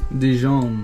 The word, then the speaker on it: Dijon: Dijon.